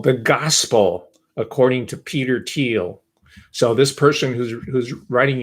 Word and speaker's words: Thiel: just made that up his name's peter thiel or thiel if you will i'm giving him the german pronunciation teal peter thiel and the